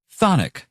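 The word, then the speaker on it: chthonic: with his gin well the first c is silent and not to mention the first h whatever phonic means having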